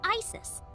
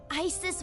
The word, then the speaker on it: Isis: Horus's mom is named Isis, but in ancient Egyptian, it's pronounced closer to Isa or as h.